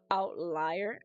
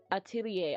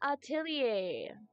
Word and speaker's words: atelier: It's pronounced as outlier.